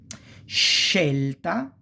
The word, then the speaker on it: scelta: And it's pronounced pretty much like cash, this sh sound, okay?